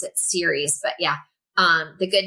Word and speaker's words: Ceres: So, I say series because it's where we get the word cereal from.